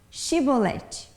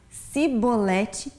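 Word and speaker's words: shibboleth: essa palavrinha chibolete e todo aquele que não conseguia pronunciar com o som do chx e falasse sibolete eles saberiam então que que era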